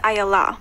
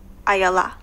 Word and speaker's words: Ayalla: My name is Ayala, but the easiest way to learn it is you say Ayaya, Ayala. Ayaya, Ayala, Ayala.